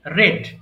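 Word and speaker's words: read: এন্ড রেড সাম বুক বলবা রেড উচ্চারণ হবে আর ই এডি রেড ওকে আই রেড ঠিক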